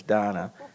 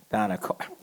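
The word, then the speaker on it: Dana: it's spelled d-a-n-a um i think her parents kind of misspelled it but the pronunciation is donna donna darling with long-star legal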